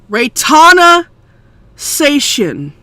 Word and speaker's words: Retaina Senshin: Retaina Senshin. Okay? Okay? I know that you have a hard time pronouncing her fucking name because it's a Japanese kind of it's a Japanese type of name.